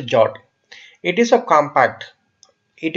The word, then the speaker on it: JWT: as a jot but it is pronounced as a jot it is a compact